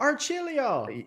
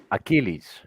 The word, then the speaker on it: Achilles: But Oh, Archilio, yes, you which is made it. yes, and this is my name is pronounced Achilles. Achilles.